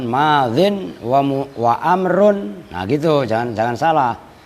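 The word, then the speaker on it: ماضٍ: Madzin, nah itu cara bacanya itu asalnya madziyun gitu loh. Cuman yaknya dibuang kan, madzin wa amrun.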